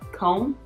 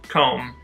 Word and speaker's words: comb: Comb? Comb. Comb your hair. Whatever, I don't say things but right. English is weird because like tomb is pronounced tomb, so you think comb, but it's comb, Yeah, I don't know.